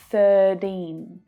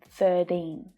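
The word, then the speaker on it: thirteen: 13, 13. This happens a lot in America and Australia, especially when the T is between two vowel sounds.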